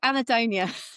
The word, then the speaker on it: Anhedonia: into your recent book, and I can never pronounce it. Which one? The Anhedonia book? There you go, Anadonia.